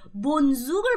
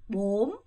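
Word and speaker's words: bốn: 몬수 몬수 그렇죠 이거 근데 대신 남부에서는 이거를 본이라고 읽지 않고요 요렇게겠습니다 대신 몸 입모양 잘 보세요 몸 몸 몸입니다 알겠죠 그럼 다시 한번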